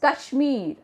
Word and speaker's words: Kashmir: Some of them say Kashmir also, but it is Kashmir, Kashmir.